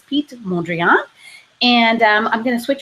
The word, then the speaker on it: Piet Mondrian: I spent a little time Googling how to pronounce his name, and apologies if there are any Dutch volunteers or volunteers that speak Dutch, please correct me, but it sounded like it was Piet Mondrian.